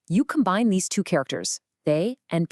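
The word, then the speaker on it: 大: It's pronounced they, and it means great or large.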